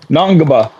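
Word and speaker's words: Ngongba: Patrick Nagba. I'm sure you jacked that up. No, it's N. spelled N G N G O N GBA B A Naba.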